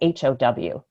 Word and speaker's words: how: give just some examples the word um l-o-w and h-o-w in most languages around the world those two words would sound very similar right but in english of course they don't one is low and the other one isn't ho it's how right right right and there's no reason why anybody would expect those two words to sound different right but they do